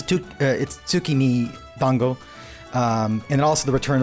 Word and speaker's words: tsukimi dango: It's tsukimi dango.